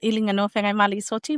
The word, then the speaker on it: Iliganoa Feagaimaalii Soti: For everybody listening Elijanowa Mali Soti, might I say you did really well in pronouncing my very difficult Samoan name there.